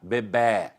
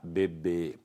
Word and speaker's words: bebê: Lá em Portugal existe a preferência da sílaba tônica aberta, bebê. Aqui no Brasil existe a preferência da sílaba tônica fechada, bebê. Por isso, então, lá em